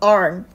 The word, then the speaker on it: aren't: There aren't 니은을 제가 따로 빼놓긴 했지만 사실은 이 발음은 R에다가 니은이 함께 쓰이는 우리가 왜 are, 이렇게 표현을 하듯이 우리가 aren't 이렇게 좀 엉터리 한글이지만 받침으로 이어지게끔 한 번에 최대한 발음을 해준다는 거죠.